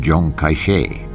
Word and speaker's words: Chiang Kai-shek: was led by Generalissimo Chiang kai-shek whose name in the Mandarin dialect is pronounced Jang cachet by 1936 the civil